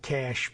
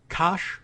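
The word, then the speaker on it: Kash: Trump surely pronounced it cash patel Kosh perhaps with a longer a okay very very interesting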